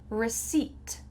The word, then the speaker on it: receipt: Receipt, receipt. Which word is missing here? The P.